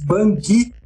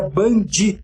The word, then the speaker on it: bungee: No Brasil se diz bungee jump, porém o correto seria bungee, como se tivesse DI no fim.